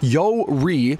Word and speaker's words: Yuri: also mean abundant ideals pronounced yo REE commonly Japanese female female